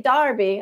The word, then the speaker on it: Derby: just saying it wrong then you say Darby I was saying Derby oh it's fine it's